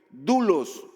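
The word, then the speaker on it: δοῦλος: Esa palabra siervo quiere decir en el original griego, doulos o doulos se escribe.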